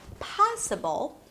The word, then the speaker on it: possible: For example, in the word possible, the stress falls on the first syllable, possible. But here's the thing. Once I add the suffix, ri, it changes the stress. The placement is changed. So it turns into possibility.